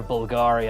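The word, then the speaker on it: Bvlgari: a man of taste how does one pronounce Bulgari well I've just said it there Bulgari I know the V is there but that's a kind of a Romanesque numerical V you know it's there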